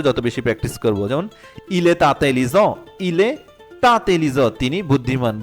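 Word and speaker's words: il est intelligent: যেমন ইলে তাতেলিজ ইলে তাতেলিজ মানে তিনি বুদ্ধিমান। এটা যদি ইলে আতেলিজ সেটাও হয়।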